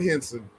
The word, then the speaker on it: Hounsou: It's pronounced Djimon. Djimon. Yeah. Djimon Hounsou, right? Hounsou?